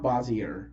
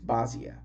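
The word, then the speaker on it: Bossier: bazia city bazia City it's not bosier it's Basia it's bosia City I think that's the correct pronunciation it's Basia City Monroe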